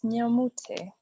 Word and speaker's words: Nyamute: It's Nyamute. Nyamute. Nyamute. Nyamute. That's the African way, yes. You're pronouncing it the English way. The African way is Nyamute.